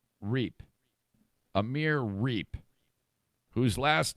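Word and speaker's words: Reip: Ohio State football players, Amir, his name is spelled R-E-I-P. I think it's Reap.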